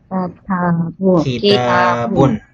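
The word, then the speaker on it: كتابٌ: Kitabun. Okay. So ang pamamaraan po ng pagbigkas dito, so ganito po 'yan.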